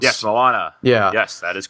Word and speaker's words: Moana: a different different ethnicity and I think it's Moana is that how it's pronounced yes Moana yeah yes that is correct I heard Mona that sounds weird to there's an a right